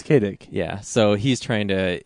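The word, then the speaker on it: Kaydick: Although it's spelled like K A Y D I C K. I It's not Philip is not his real first name, but I get the illusion. Yeah, it's Kadick.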